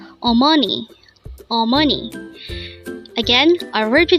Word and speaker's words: 어머니: Omani or money again our virtue today is Omani it is pronounced as a three-syllable word the first little boys